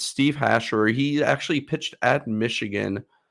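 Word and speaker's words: Steve Hajjar: with a 12.1 walk percentage so it's actually steve hasher is how you pronounce it and i know that everyone's going to mess that up but it's steve hashor he actually pitched at michigan um a couple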